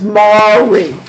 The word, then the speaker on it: Mari: Make sure you practice Mari. Yeah. Mari. It's like the TV He's gonna show. call him Mari. What TV show? Maury show. You are Not not the tasty cake. Not pronounced like Polish.